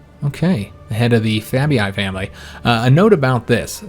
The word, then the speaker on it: Fabii: Okay, the head of the Fabii family. A note about this. So I've had a lot of people comment that with the double E's, this is just pronounced as an E sound, the Fabii family, not the Fabii family.